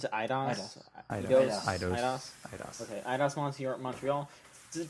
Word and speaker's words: Eidos: Is that how you pronounce it? Eidos? Eidos.